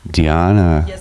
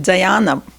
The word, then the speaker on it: Gianna: name is Gianna I know that Americans pronounce it Diana but I always kosher Gianna Gianna great so Tina